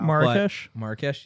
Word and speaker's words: Marrakech: They in Marrakech. Sorry, I don't know how to pronounce that. Wow. Marrakesh, yeah.